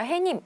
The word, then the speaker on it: 해님: 사실 남한과 북한은 모두다 해님이 라고 표현하는 것이 맞습니다 햇님이 아니라 해님 그대로 발음상의 변화가 일어나고 있지 않기 때문에 사이 숀 넣어 주지 않는다 따라서 정답은 1번 된다는